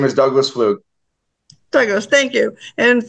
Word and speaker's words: Pflug: part of that is because my hesitancy with pronunciation would you please do that for me sir my name is Douglas fluke there goes thank you and for the viewers